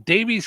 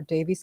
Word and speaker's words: Daviess: In Davies County, Indiana. Not exactly sure where Where's that's that? Hold on. Let's see where Davies County is.